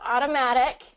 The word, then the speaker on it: automatic: you say automatic yeah so automatic has that same D sound so automatic oops automatic